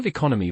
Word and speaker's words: economy: So, economy versus leconomic. Perfect. Economy has second syllable emphasis.